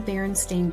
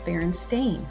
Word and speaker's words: Berenstain: Many people remember the Baronstein bears spelled with an e i n at the end of the word. Yet, every book in print says Baron Stain with an a i n.